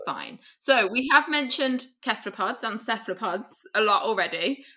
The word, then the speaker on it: cephalopod: I picked up the word, I use a hard C because I was at a conference in Crete, a Cephalopod conference, and all the Greek guys were using a hard C because they're Greek and it's a Greek word.